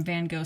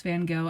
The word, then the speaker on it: Van Gogh: And I'm also aware of the fact that people in the UK pronounce Van Gogh as Van Gogh instead.